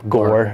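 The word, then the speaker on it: Gorrer: it's going to be the new guy danny gore apparently that's how you pronounce his last name danny gore um former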